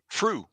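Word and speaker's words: Früh: It's Fruh. I'm probably pronouncing it Fruh.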